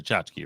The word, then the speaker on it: tchotchke: Tchotchke, like if everybody who comes to the event gets a shot glass with this on it, you might call it a tchotchke, right?